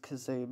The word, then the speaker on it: Kazoom: by this guy kazoom yeah it's pronounced kazoom i i actually double checked that i came across kazoo the same way most people did he's actually the narrator